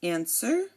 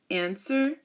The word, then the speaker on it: answer: to know um like answer sword and two the letter two the number two I'm sorry again answer sword and two the W here is silent and now um honestly